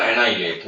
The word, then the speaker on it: annihilate: we could සහ මුලින්ම නැති කරනවාට කියන තුරන් කරන annihilate මේ වචනය pronounce වෙන annihilate කියලා. ඒ double n h i l a t annihilate the 30 වසරක්